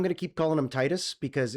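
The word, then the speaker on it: Tidus: Um, so I'm going to keep calling him Titus because if you wanted him to be Tetus, you you spell it better, but you spelled Titus, so we're going to call him Titus.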